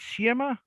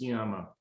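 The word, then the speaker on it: Sciama: nice papers of dennis i think it's chiema how do you spell it in english s c i am uh actually i don't think i pronounced that right either but it's i believe it's pronounced skiamo and i don't remember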